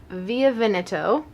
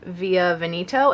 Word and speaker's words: Via Veneto: larger than life I a pencil in via via veneto I know a lot of people pronounce it via veneto and that's not correct I learned that by